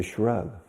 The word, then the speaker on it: shrug: Rug. Pones un SH delante. Shrug. Okay? Like Shrek. Shrug. And when you don't know something, what do I know?